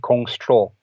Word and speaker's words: Kongtrul: of troll yeah yeah so the s in in that is silent and then the PR